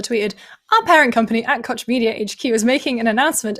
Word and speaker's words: Koch Media: Is it Koch Media? Coke. Koch Media? Yeah, I mean, there are different pronunciations depending on where you are in the world, but Koch Media is June 11th, 12 p.m.